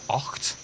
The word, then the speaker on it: acht: Eins, zwei, drei, vier, fünf, sechs, sieben, acht. Acht? It's not oct, is it? It's acht.